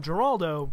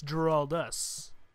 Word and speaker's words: Geraldus: Unfortunately, in his video, he pronounced my channel name Geraldo, when clearly it's Geraldus.